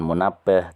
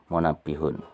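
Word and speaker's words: منبهٌ: Ingat ketika ada harokat di bawah tasydid itu bacanya apa? Kasroh ya, bukan fathah, bukan munabbah, tapi munabbihun.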